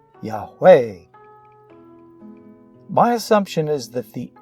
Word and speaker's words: Yahweh: E, I, O, U, almost everyone would pronounce this correctly. Yahweh.